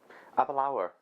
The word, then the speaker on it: Aberlour: one now apple or should we taste applo would you like a dram of a Balu see what they say Apple our have a line where that's the correct way to say according to her anyway so a burr